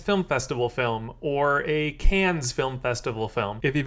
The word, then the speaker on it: Cannes: Festival film, or a Cannes Film Festival film. If you've only ever seen that word written, you don't pronounce the S, it's just can.